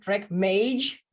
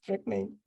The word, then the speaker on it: Trek Mage: was not available okay track Mage the next best thing yeah we didn't realize at that point that people don't pronounce it the correct way like they look at it and like track what track M yeah yes track M so you have a